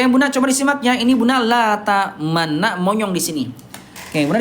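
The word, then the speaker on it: لَا تَأْمَنَّا: Ayah bunda ini asal kalimatnya namanya la ta'manuna tapi tidak dibaca la ta'manuna ya. Ayah bunda tidak dibaca la ta'manuna tapi dibacanya la ta'manna. La ta'manna tapi ayah bunda di sini ada isyarat monyong. Ya, jadi isyarat domahnya tidak hilang. Dia dibaca la ta'manna tapi tetap ada monyongnya. Bisa nggak bunda?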